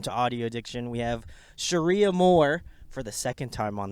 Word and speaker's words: Cherie Amour: It doesn't look like an idiot like me, so it is Cherie Amour, so go check them out.